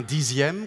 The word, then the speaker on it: dixième: avec un z et un dixième qu'on écrit x mais qu'on prononce z employé avec employés avec